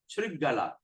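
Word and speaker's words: śṛgāla: When there's an apostrophe on the S, we're going to pronounce as shampoo.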